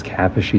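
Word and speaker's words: Kaposi: as gilbert at that caposi sarcoma should be pronounced as capocity sarcoma and then lastly for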